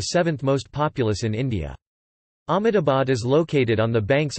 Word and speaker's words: Ahmedabad: Ahmedabad also pronounced as Amdavad in Gujarati is the largest city